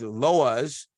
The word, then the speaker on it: loas: view the engagement with loas that's how the lowest is spelled l-w-a-s or l-o-a-s amounted to a pack